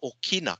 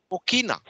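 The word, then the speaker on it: ʻokina: We call this the Okina.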